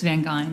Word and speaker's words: Van Gyn: Is it Van Gyn or Van Gyn? Share your issue. It's Van Gyn. Like Van Gyn.